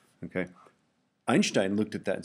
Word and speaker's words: Einstein: I'm going to uh talk a little bit about uh Einstein's photo photon theory. Okay. Um and I pronounce it Einstein rather than Einstein because that's how you pronounce Einstein. Okay. It's a German name.